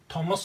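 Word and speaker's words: Thomas: ये थॉमस नहीं बोलते, इसको बोलते तो थॉमस ही है, लेकिन स्पेलिंग में TH आता है, ध्यान रखिएगा।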